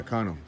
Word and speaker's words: Cano: pronounce his name? You know. Cano? Yeah, Cano.